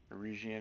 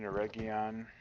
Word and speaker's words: Eregion: Especially now that I've been using the Aragon, can't pronounce it, but Eregion, Eregion. I've pronounced it both ways.